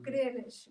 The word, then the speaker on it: Greenwich: it yeah green it's not green rich greenish yes it's spelt green witch but it's pronounced greenwich but